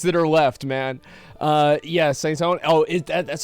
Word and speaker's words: Saintone: Yeah, Saintone. Oh, that's how it's pronounced.